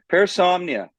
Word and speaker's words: Parasomnia: Parasomnia.